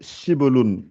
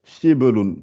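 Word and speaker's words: شبل: Ouais, le lionceau, c'est Shibelun. Shibelun. Donc, Shi, Ab, Lun. Shi, Ab, Lun. C'est Shibelun. Shibelun.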